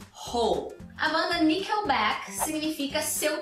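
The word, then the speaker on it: Hole: E a pronúncia é com H aspirado no início, ho banda nickel back significa seu troco de volta.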